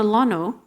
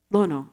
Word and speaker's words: Lono: over here and there's the Temple dedicated to Lano who is the hawan God of Peace Agriculture and prosperity Lono actually would be the proper pronunciation across the